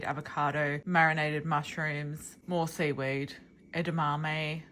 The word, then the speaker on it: edamame: This is yeah, got tofu, seaweed, avocado, marinated mushrooms, more seaweed, edamame, which I always say wrong. I hope I said it right that time. I used to call it endomime.